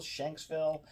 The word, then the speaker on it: Shanksville: Pennsylvania today or shville is that how you pronounce it Shen xville Shanksville is that I thought that's where went I